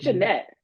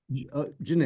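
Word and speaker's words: Djanet: to pronounce her name I think Janette Janette the D is like um silent silent okay and um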